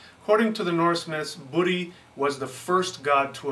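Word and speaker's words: Búri: is very obscure and we're not sure if it was pronounced budy with a long u or budy with a short u um its place in the poetic meter of the myth uh suggests that there was a long u in it in order to fit the meter um so we think it was budy but there's no real consensus about that it could have been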